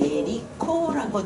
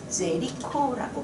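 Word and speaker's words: Jericho: 여리고라고 하는 애데 얘네들을 우리는 예리코라고 부르가 제리코라고 부릅니다. 근데요 제발이 어 그 묵음이 돼서 예리코로 굴리는 경우들이 많습니다. 그래서 제리코도 괜찮고 여러분들이 성경에서 보신 대로 여리고라고 부르셔도 됩니다.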